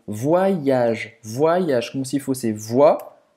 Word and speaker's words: voyage: Aqui, esse Y, você vai fazer um I longo. Voyage.